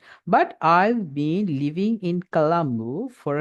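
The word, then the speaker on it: Galle: Where I from, அதுக்கு என்ன சொல்லுங்க, ஐ am from கால். Okay, நம்ம என்ன காலி, தமிழ்ல காலின்னு சொல்றத இங்கிலீஷ்ல கால். We have to pronounce this S கால்.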